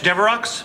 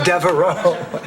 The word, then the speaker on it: Devereaux: Flowers for Blanche Deveroux? Oh, no, that's Devereaux. It's only pronounced Deveroux in limericks.